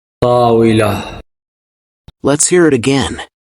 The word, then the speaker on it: طاولة: طاولة. Let's hear it again. طاولة.